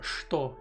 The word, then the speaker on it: что: I was thinking earlier and I noticed that что is actually pronounced что.